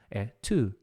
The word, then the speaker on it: to: É a pronúncia, não é tu. É que eu queria dar ênfase, né? Eu tu. Listen não é tu, que nem tu de tu vai. É to.